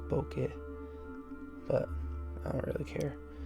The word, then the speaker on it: bokeh: to pronounce it um i'm just calling it boko cause that's the american way to pronounce it but it's actually pronounced bokeh but i don't really